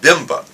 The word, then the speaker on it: BIMBA: The initials are BIMBA, and so we pronounce it BIMBA.